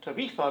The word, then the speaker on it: Tabitha: Meanwhile, in this other town, this lady called Tabitha, now you'll notice how I pronounced that.